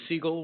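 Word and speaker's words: Segal: And my last name is Seagull, which is spelled S E G A L.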